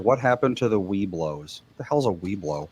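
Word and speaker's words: Webelos: No, it was just pronounced Weeblo, though.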